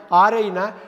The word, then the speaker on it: awry: AW எப்படி உச்சரித்தாலும் இது தப்பாக தான் இருக்கும். AWRY என்ன தெரியுங்களா? RI, என்னவோ தெரியல, அரை அரை அரை ஆரைனா நீங்கள் ஒன்று திட்டம் போட்டிருப்பீங்க, அந்த திட்டம் எல்லாமே காலியாக இருக்கும்.